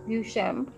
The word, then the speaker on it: Duchamp: quote you uh invisible color 2012 uh marcel duchamp how do you pronounce it yeah duchar yeah once said a title is an invisible